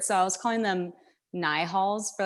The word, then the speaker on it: Nihals: Yeah, so it's pronounced Nihals, but when I receive new light beings, like the Lyrans, they don't say it. I see the word, so I was calling them Nihals for like the longest time, and I was